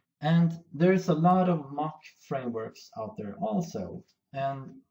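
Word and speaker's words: Moq: tests pro project and I'm going to search for Machu it's pronounced mock or mocku EIC install okay let's try again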